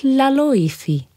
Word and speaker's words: Laloifi: said Chris Cross candy floss my name is laifi and my favorite color is pink iy said